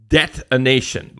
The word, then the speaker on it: Debtonation: And he's talking about something he calls debtonation, like debt, but like not detonation like a bomb, but detonation spelled like debt.